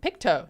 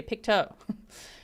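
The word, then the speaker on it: Pictou: Picto. Someone said yesterday, Picto.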